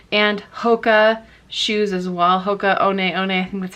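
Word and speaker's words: Hoka One One: them quite frequently and hoka shoes as well hoka onee one that's how you pronounce it um they'll sell really great and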